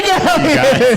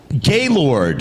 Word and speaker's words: Galyon: It's Trey Galyon! Hey. What's your favorite mispronunciation of Galyon? Gaylord.